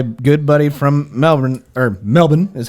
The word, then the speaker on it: Melbourne: legitimately talked to my good buddy from Melbourne, or Melbourne is how it's pronounced. Melbourne.